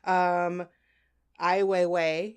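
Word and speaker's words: Ai Weiwei: it's thought-provoking is what it's supposed to be i Weiwei is how you say his name I know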